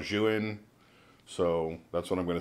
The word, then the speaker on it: Zhiyun: The Zhiyun, or Zhiyun, those are the only two pronunciations I've heard that come close to actually being what they're supposed to be. From what I understand, from Potato Jet, it's actually called Zhiyun, so that's what I'm going to say.